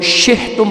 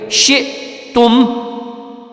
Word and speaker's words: شئتم: سارے لوگ اس کو شہتم پڑھتے ہیں، بہت سارے لوگ اس کو شئتم پڑھتے ہیں. دونوں غلط ہے. یہ حمزہ کا جو ہے آپ نے تلفظ کے ساتھ اس کو حمزہ پڑھ کے پڑھنا ہے.